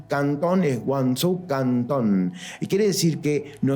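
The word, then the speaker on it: Guangzhou: y así como nanin nanin y cantón es guzu cantón quiere decir que no nosotros conocíamos a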